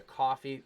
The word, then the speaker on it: Ko-fi: If you'd just like to donate, you can go over to Coffee. That's how it's pronounced.